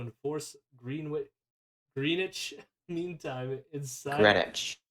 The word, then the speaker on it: Greenwich: Greenwich. I know, I screwed myself up because I wanted to pronounce the W again.